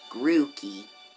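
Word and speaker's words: Grookey: gonna go with oh i mispronouncing it it's grooky you're my i'm aiming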